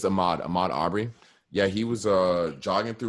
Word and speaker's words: Ahmaud Arbery: Yeah, I didn't want to pronounce it wrong. Yeah, I believe it's Ahmaud Arbery.